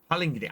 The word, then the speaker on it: Pallegney: Pallegney.